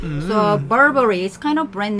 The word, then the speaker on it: Burberry: Well, that's the problem is the pronunciation because it's Babari, but the actual pronunciation of the company is Burberry. Burberry. Yeah, not Burberry. It's Burberry. Burberry. And so in Korean it's Babari, so we don't hear the brand name even.